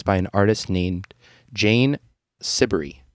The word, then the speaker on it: Siberry: an artist named Jane sibery which rhymes with slippery yeah I'm glad that